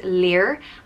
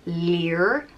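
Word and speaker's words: Lir: there next up is leer and it's pronounced like leer and is spelled l-i-r and lear was known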